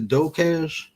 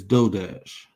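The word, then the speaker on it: DoorDash: I think it's Docash.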